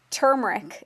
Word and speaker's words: turmeric: So there's lots of ways to say it, and it's funny because a lot of people misspell it, and I noticed that when people email me. So turmeric is how I say it, and then I Turmeric.